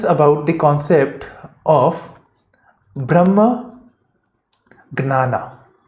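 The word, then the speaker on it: jñāna: Brahma, as I said earlier, it is about the Supreme Being plus Gnana. This is J, but it is pronounced as Gnana. I think this should help. In Hindi, this means Jnana, Gyan.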